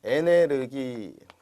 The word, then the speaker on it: 에너지: 우리가 이제 과거에는 요즘 그렇게 발음들 안 하시는데 에네르기 요즘 가끔 이제 또 제 어감을 강조하려고 에네르기 이렇게 하는 분들도 있습니다. 근데 이것은 그 독일 말이 있어요. 에네르기. 여기서 이제 온 발음이죠.